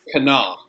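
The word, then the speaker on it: Κανά: Usually it's on the Ultima, and that has to do with the rules of putting accents. Generally, nouns like to have the accent on the last syllable. So it's kana.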